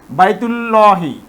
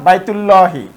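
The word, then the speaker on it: بيت الله: মাঝখানে নিয়ে আসব, অর্থাৎ এখানে আমরা দেখতেছি যে বাইতুল্লাহি, বাইতুল্লাহি, এখানে এই যে হামজা, এই হামজাটি কিন্তু আর উচ্চারিত হচ্ছে না, কারণ এর পূর্বে একটি শব্দ রয়েছে, অর্থাৎ বাক্যের মাঝে এসেছে। তো এই হামজাটি কিন্তু আর উচ্চারিত হচ্ছে না, এই তাটি কিন্তু সরাসরি এই লামকে গিয়ে ধরতেছে, অর্থাৎ বাইতুল্লাহি।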